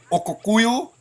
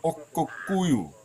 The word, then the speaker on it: Oko: water Hall being called OKO that is the correct pronunciation um and difficult one for most people to say oku that is how it is said by the ambo people in Namibia if you don't believe